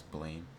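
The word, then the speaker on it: Blame!: Like my favorite one is blame or it's it's like pronounced blam. But it's like as text as Americans it's it's pronounced blame.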